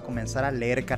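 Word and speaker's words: 你好: Cuando hay dos terceros tonos seguidos, ya sea ni, jao, el primer, o sea, la primera sílaba cambia de tercer tono a segundo tono. ¿Y cuál era el segundo tono? el que solo sube. Entonces pasamos de ni jao a ni jao.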